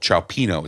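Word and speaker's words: cioppino: better, the better version of that's called ciappino. It's an Italian dish. And it's Ciappino is how you have to say it.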